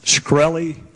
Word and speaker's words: Shkreli: Is it pronounced Shkreli? Yes, sir.